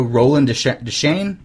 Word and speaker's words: Roland Deschain: I just elbows when we playing the hero roland deschain is how you say his name Shane yeah